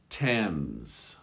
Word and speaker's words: Thames: at that and then rarely th sounds like a t thames or thomas here this